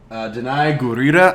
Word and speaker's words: Danai Gurira: Remember how to pronounce her name right. Danai Gurira.